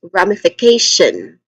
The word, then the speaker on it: ramification: e alone and then third is f which has a short e vowel sound and then kash k. So the fourth syllable is k which has a tip thong sound a and t i o n that's the last part of the word t i o non.